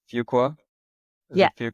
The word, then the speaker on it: Fuqua: to say it wrong, but I think it's Fuqua. Is Yeah. it Fuqua?